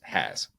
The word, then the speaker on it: Haas: They mispronounced it on the broadcast, friend of the program. Luke Haas. Everybody, just pretend that the Z doesn't exist. Just Haas.